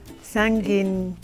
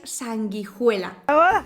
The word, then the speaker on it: sanguijuela: Sanguinea. Ay, Uy, qué difícil. La pronunciación correcta es sanguijuela.